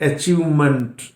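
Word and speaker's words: achievement: एक और बात याद रखिएगा, यदि इस MENT को दूसरी वर्ब में जोड़ दिया then it is always pronounced as month, month, not meant. ये प्रोनाउंसिएशन गलत है। इट्स अचीवमेंट, अचीवमेंट, एग्रीमेंट, adjustment, commitment, डेवलपमेंट, इंप्रूवमेंट, not meant. मेंट पे जोर नहीं देंगे।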